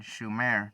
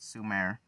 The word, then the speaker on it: Sumer: Except for mispronouncing the name, it should have been Shumer, not Sumer.